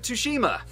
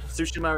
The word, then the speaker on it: Tsushima: __ ] ghost of toshima i haven't heard of that one that's the new japanese samurai game from sucker punch okay tsushima is actually called i mispronounced it earlier it because there's a